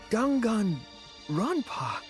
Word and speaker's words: Danganronpa: Well, no, actually I've said a bunch of times, but Gangan Rampa. Gangan Rampa. What? That's how you pronounce it.